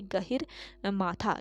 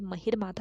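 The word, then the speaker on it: गहिरमाथा: तो देखिए गहिर माथा, इसको करेक्ट कर लीजिएगा, ये महिर माथा हो गया, गहिर माथा है इसका सही प्रोनाउंसिएशन, गहिर माथा।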